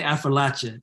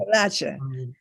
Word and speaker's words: Appalachia: It depends what side of the mountain you're on. We say Appalachia back home. Appalachia. So if you're on my side of the mountain, it's Afrolatia, but if Okay, interesting.